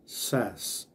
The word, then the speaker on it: says: He, só vai mudar um pouquinho a pronúncia, vai ficar he says.